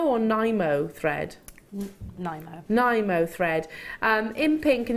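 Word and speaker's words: Nymo: Is this pronounced Nemo or Nimo thread? Nimo.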